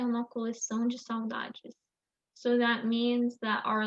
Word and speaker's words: saudade: A saudade é a nossa alma dizendo para onde ela quer voltar.